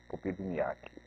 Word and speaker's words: Popivniak: O Popinhac, é essa pronúncia mesmo? Como é que ela tem uma diferença? Não. Houve uma portuguesada? Foi aportuguesado, foi abrasileirado. Abrasileirado. Na verdade, o nome seria Popivniak. Popivniak.